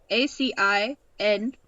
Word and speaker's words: Acinonyx: I can't even pronounce this. Acinonyx. And for those of you laughing, it is Acinonyx.